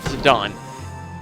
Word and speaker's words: Zidane: hear Zidane's name, and that's how you pronounce it, Zidane. And mind you, that's not that bad. I just think Zidane is cooler. And you would think it would be pronounced that way because that's how it's spelled.